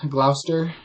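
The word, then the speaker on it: Gloucester: Glouster sock.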